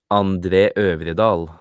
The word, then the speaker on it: André Øvredal: André Øvredal.